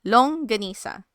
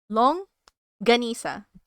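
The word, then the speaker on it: longganisa: Long ganisa. Long ganisa.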